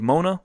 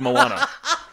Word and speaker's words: Moana: I think it's Moana I always thought it was Mona but I heard someone pronounced Moana it's m o a n like mon Mona was